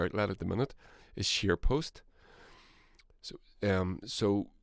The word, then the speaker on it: ScheerPost: Go and visit him at, he mentioned it a few times, he has his only major outlet at the minute is SharePost. So it's spelled SCHEERPOST, SharePost, all one word, and Chris